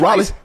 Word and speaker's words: Raleigh: You mean Raleigh?